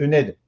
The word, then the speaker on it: ENED: Et puis d'ailleurs, on ne le prononce pas mon nom, on dit ENED.